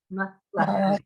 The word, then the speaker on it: Malachi: So it'd be Malachi. So it's Malachi. It really is Malachi or Malachi. It's Malachi.